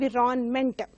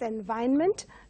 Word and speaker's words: environment: students pronounce it as for the spelling they pronounce it as and we're on mental but it has to be pronounced as environment where R is silent the next one a